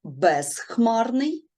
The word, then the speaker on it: безхмарний: про про префікси наприклад без хмарний пишемо без тому що префікси роз без пишуться завжди з буквою з ми можемо вимовити чітко без хмарний але х у нас глухий А з- дзвінкий то